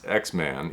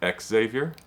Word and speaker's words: Xavier: But it is X-Man, even though it's Xavier, not Exavior. Do I have that right? Yes. Okay, good. I'm always a stickler for pronunciation, so I want to make a make sure I get I appreciate that cuz most people always say Exavier.